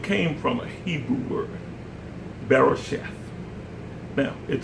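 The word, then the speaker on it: בראשית: from a Hebrew word, Berosheth. Now, it says Berosheth or shit here, Berosheth here, but sometimes it's pronounced as if the last T is followed by an H, Berosheth.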